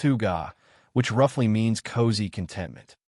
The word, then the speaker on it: hygge: This small country has cracked the code on life satisfaction through something they call huga, pronounced huga, which roughly means cozy contentment.